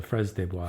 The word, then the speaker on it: fraises des bois: How do you pronounce the flowers? The strawberries? The fraises des bois.